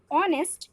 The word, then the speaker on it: honest: example he is an honest man we pronounce the noun honest while keeping the at silent the main sound is of the vowel o that's why we use